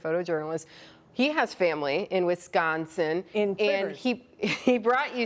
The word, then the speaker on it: Wisconsin: most of it, but my husband always tells me I don't say Wisconsin properly. How are you supposed to say it? I say Wisconsin and he says there's no G in Wisconsin.